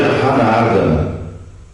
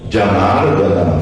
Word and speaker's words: Janardana: Mas quando você lê em espanhol, você leria Hanardana, porque J no início tem som A. Hanardana.